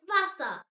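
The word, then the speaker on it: Wasser: German W sounds like English V. Yes, V and W are completely switched around. Just remember that and you will be absolutely fine. The example word is vasa.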